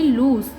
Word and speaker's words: luz: तो LU हो गया लू, एंड Z की साउंड S की आती है, तो इस वर्ड की प्रोनाउंसिएशन हो गई लूज़।